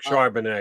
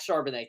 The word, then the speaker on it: Charbonnet: I don't know why they I get why they drafted I can never pronounce his name. Zach Charbonnet in the second round. Yeah, Zach Charbonnet.